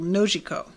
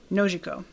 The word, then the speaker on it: Nojiko: Oh, Alex says emphasis on the first syllable, Nojiko. Right? Did I get it? I always forget that. Nojiko.